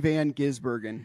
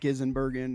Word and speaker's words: Van Gisbergen: But it is pronounced Shane Van Gisbergen, not Gisenbergen, not anything else.